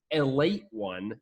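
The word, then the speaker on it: Ale-8-One: Also, you could also pronounce it a late one if you didn't want to call it Ale 8.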